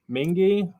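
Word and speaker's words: Mingua: did yes best jerky mingy mingy yeah mingy's still probably amazon yep mingy it's spelled like mingwa but i really mingy's probably my favorite we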